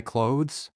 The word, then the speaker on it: clothes: I washed my clothes. Cloths. Pieces of fabric. Use a cloth to clean the table. Clean the windows with soft cloths. Pronunciation tip. Clothes, the E is silent.